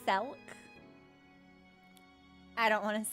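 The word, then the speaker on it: Selch: It's pronounced Selk.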